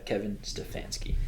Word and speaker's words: Stefanski: Kevin Stefanski. That's how you pronounce his Former name.